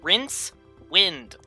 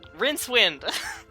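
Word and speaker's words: Rincewind: name of the character rinse wind whence why why must you choose the hardest to pronounce names it's rinse wind like rinsing water and wind that's how it's spelled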